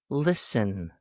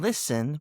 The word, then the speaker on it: listen: Silent T as in castle, listen, and whistle. There's a T in castle between the S and the L. There's a T in listen between the S and the E.